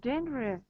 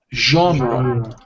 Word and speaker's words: genre: favorite um my favorite uh one minute maybe Genry is comedy yes genre genre genre okay okay I see excellent yeah